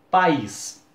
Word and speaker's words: país: Por exemplo, se eu falar assim a palavra país, eu abro a boca duas vezes para pronunciar essa palavra.